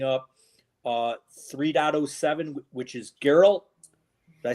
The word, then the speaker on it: Geralt: we are opening up uh 3.07 which is geralt did I say that right Sean Garrett geralt